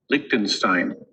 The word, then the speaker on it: Liechtenstein: Liechtenstein. सुना सबको? Liechtenstein.